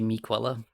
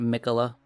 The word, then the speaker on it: Miquella: Miquella, really. It's spelled like Quell. Should be Miquella, not Mikola.